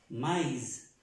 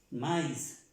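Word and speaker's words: maïs: porque tengo la crema y cuando hay tema tengo que pronunciar esa y como normalmente se pronuncia aquí y entonces aquí diría yo maíz maíz más my normalmente quiero que aprendan bien eso entonces es una forma de contarla y es así se pronuncia igual está ahí con dos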